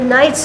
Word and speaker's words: knights: pen in the string k n do you hear the k the knights of england k-n-i-g-h-t there's a big